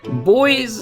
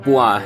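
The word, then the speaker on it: Bois: And also, if you're curious, boys is actually supposed to be pronounced bua in French and it means wood.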